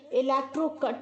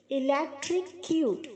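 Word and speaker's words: electrocute: गलत प्रोनाउंस करते हैं इलेक्ट्रो कट बोलते हैं इलेक्ट्रो कट नहीं है बच्चों इलेक्ट्रिक क्यूट अब क्यूट बोलते हैं ना वैसे ही आप बोले इलेक्ट्रिक क्यूट okay I like it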